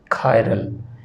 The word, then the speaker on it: chiral: ये लफ्ज़ आपने KI इसको ऐसे प्रोनाउंस करना है, कायरल, KIRAL। इसको और कोई नहीं, चिरल वगैरह या चायरल नहीं पढ़ना आपने, इसको कायरल कहना है।